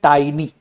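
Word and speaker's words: tiny: ये लोग काफी लोग इसको टिनी पढ़ते हैं। काफी सारे लोग इसको टिनी पढ़ते हैं। बट एक्चुअली ये हो जाता है टाइनी।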